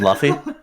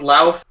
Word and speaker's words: Luffy: I have a dream, just like Luffy has a dream. Don't you mean Luffy? Yeah. I legitimately thought, like, someone told me that it was Lauf.